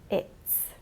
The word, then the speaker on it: it's: She's, it's. Slight difference in pronunciation there to notice. With he and she, it's a z sound, and with it, it's a s sound.